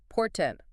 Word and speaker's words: portent: Portent.